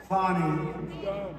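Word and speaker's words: Fani: at fonny f i it should be pronounced F fonnie they say she gets very upset if you call her Fanny fa she fell in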